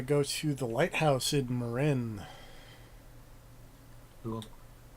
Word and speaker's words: Marin: It is Marin, right? Like I feel like I've looked this up and I seem to recall that being how you pronounce that. Yeah, I think that is correct as far as I know.